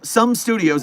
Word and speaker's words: SOM Studios: SOM Studios, some studios is actually how you say it, but I keep saying SOM because that's the way it's spelled.